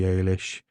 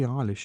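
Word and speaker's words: Eilish: two names hav I Billy Alish Billy ish it's Billy ish isn't it it's Billy ish isn't it people don't call it Alish and then Chapel ran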